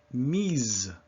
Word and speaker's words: mise: Mi, mise.